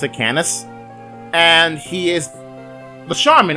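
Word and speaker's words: Canas: okay so this network icon is canis ipsi pronounced at canis and he is the shaman or for those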